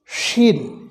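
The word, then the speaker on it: شين: ক্ষেত্রে যেটি ব্যবহার হয় শিন এটি মোটা করে বাতাস বের হবে এটি হরফের উচ্চারণের স্থান হচ্ছে জিহ্বার মধ্যখান জিহ্বার মধ্যখান তার বরাবর উপরে তালুর সঙ্গে লাগিয়ে শিন উচ্চারিত হয় জিহ্বার মধ্যখান তার বরাবর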